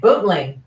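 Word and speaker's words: Boontling: play is written in buntling is that how it's pronounced exactly i say it bootleg yeah which is the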